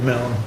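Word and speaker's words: Milne: but it's blind m-i-l-n-e Mel yeah that's he pronounce it melon okay yep okay I'll take that and he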